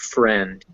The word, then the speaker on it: friend: almost always e there's one big exception to this and that's the word friend or which has an ie but it's pronounced a friend that's all for e